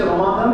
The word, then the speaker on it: রমাদান: তো রোজা শব্দটি ফার্সি, রমজান শব্দটি ফার্সি, উচ্চারণ হচ্ছে রমাদান, যেটা কোরআনে এসেছে।